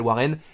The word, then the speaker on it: Warren: parce que moi personnellement je m'appelle warren j'aimerais pas qu'on m'appelle varennes donc je préfère l'appeler prône chaud bref donc on sait